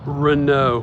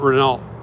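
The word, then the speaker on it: Renault: even a street called Rena and that's how the French pronounce it r e n Au U LT not renal but I'm on the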